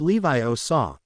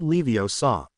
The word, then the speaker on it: Leviosa: flailing arm stop stop you're saying it wrong she said it's Levi OA not Leviosa Ron scowled at her